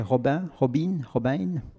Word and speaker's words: Robin: Mélanie est réalisatrice, elle est basée ces jours-ci à Bruxelles, en résidence à l'Enclume, et elle travaille sur son projet Robin, prononcé à l'anglaise.